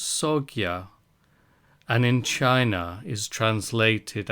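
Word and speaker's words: Sangha: Dharma as the law sa in India is pronounced soia and in China is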